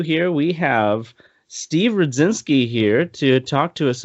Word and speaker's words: Rudzinski: I'm Rudzinski. usually terrible with Polish names. Well, mine looks intimidating, but it does honestly just sound exactly how it's spelled. So, Okay. um, It's that D and Z sound together.